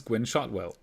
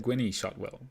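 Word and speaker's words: Gwynne Shotwell: When I started the channel, I was the stupid German and I didn't know how to pronounce Gwyn Shotwell. I said Gwynny Shotwell.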